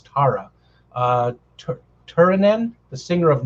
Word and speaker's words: Tarja: to pronounce the name it's t-a-r-j-a so it's either tara or tarja i imagine it's tara uh turin the singer